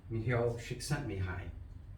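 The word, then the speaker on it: Csikszentmihalyi: creativity and the sightings uh Miguel sent me high is the way his name is pronounced and um his findings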